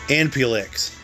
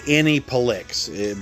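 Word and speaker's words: Aniplex: It's like Anipelix, but you're supposed to say it as one long word.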